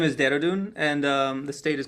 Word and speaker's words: Dehradun: The city's name is Dehradun, and the state is called Uttarakhand.